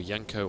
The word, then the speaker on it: Jenko: Or Yanko or Genko or however it's Jenko, but I cast so many Swedish teams that you know, you pronounce the J's like a Y, so it's like Yanko.